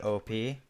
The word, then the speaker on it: AWP: Maybe if I could buy an op the second round, that would be awesome. That'd be pretty OP. See what I did there, but op is spelled AWP.